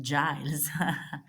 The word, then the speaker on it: Giles: help Giles for help Rhymes into miles it's pronounced Giles how can I help you